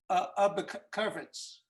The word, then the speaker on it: Oberkowitz: But you would still pronounce it, it's, instead of the O, it's an I, so it's Oberkowitz, Oberkowitz.